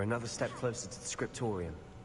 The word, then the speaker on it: Scriptorium: We're another step closer to the Scriptorium. Scriptorium. That's how you pronounce it.